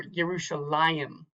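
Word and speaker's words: ירושלים: That tells you that that is the accented syllable, not the last syllable. So this would be Va'anachnu, Va'anachnu, or Yerushalayim.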